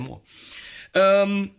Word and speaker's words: Mooer: see on Mooer pedals, this is how you say it, by the way, Mooer, not Mooer or Mooer or Mooer or any kind of variations I frequently do. It's more like, more.